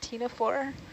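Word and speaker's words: ctenophore: for anybody interested in how to spell tina four it's spelled with a silent c c t e n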